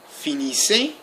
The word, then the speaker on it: finissez: Vous finissez, without pronouncing the Z.